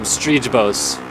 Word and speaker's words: Strybos: everybody I've ever heard except Jeff Emmett calls him Kevin Strybos or Strybos. And then Jeff Emmett calls him Streejbos.